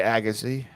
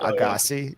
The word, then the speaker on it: Agassi: It's Andre Agassi, not Agassi. Yeah. Yes. That's the proper French pronunciation.